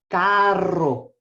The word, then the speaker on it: carro: car in Spanish is Carro so you roll that R can I see how